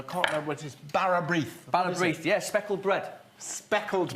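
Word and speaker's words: bara brith: Barrabrith. Barrabrith, yeah, speckled bread. Speckled bread. Yeah.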